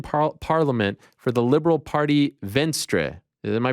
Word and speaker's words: Venstre: He wrote, "Hi, I work as a senior policy advisor in the Norwegian parliament for the Liberal Party Venstre." Am I pronouncing it correctly?